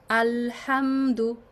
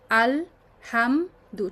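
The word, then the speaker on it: الحمدُ: কতক্ষণ স্টে করব? জাস্ট এই লাম উচ্চারণ করতে, যতটুকু লাম ক্লিয়ার করতে আপনার যতটুকু টাইম লাগে। আলহামদু, আল হাম দু, ঠিক আছে? আমরা এটা খুব ভুল করি, আলহামদু এভাবে পড়ছি, আলহামদু।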